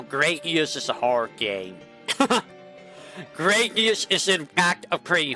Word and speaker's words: Gradius: Um, Graius. Graius is uh I'm going to say it right now. Graius is a hard game. Gradius is in fact a pretty hard game.